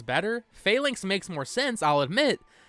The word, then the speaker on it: Phalanx: broke my heart someone commented this I've always pronounced Phalanx as fallings I think falling sounds better Phalanx makes more sense I'll admit but I'm kind